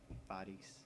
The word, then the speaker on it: Faris: So I guess they're going with the actual pronunciation of Faris instead of Ferris. Faris.